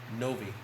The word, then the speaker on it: Novey: You may have to go to another store, like we went to yesterday, called Novi. That's spelled Novey. Novi.